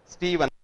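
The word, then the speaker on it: Steven: Washington state university his name इ स्टीवन मिलय स्टीवन एस टी ई वी ई एन नॉट स्टीफन य नो स्टीफन इ also pronounce स्टीवन बट स्टीवन मिलय एम आई एल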